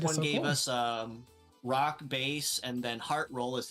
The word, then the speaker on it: Bass: you're not wrong because it's pronounced both ways but base is primarily because if you look